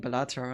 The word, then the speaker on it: Balatro: I can so recommend playing Balatro on stream. That game is fun. Wait, how do you pronounce it?